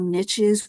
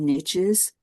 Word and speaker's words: niche: that these are all niches. We have many different niches, That's the American pronunciation. The broader pronunciation I know is niche. So let me go with niche.